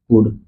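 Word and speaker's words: could: कुड ठीक spelling ध्यान दीजिए डब्ल्यू और सी बस बदल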